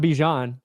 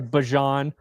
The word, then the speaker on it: Bijan: name wrong, but not Bijan. He did the mustard deal. Dijon. Like you can't accept money for a way that your name is pronounced and then say actually it's wrong. So sorry, Bajan.